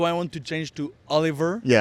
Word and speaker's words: Olivier: in English, do I want to change to Oliver? Yeah. Foy. But I no I say my name is Olivier.